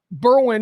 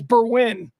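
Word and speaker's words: Berwyn: how to pronounce Berwin Berwin is how you pronounce the suburb the suburb of Berwin this Chicago reporter is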